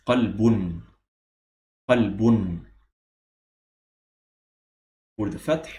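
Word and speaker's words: قَلْبٌ: So it's as if there is a noon at the end. So again, it's qalbun.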